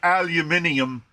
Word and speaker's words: aluminium: Well, apparently, there's an argument to be made either way because the way the British say aluminium follows the convention of the other words, the other metal elements that end in like molybdenum, which I still refuse to say.